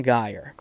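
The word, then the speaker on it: gyre: Um, so turning and turning in the widening gire. So there's a footnote from my text Yates term pronounce in in relation to the word gire. Yates term pronounced with a hard G uh for for a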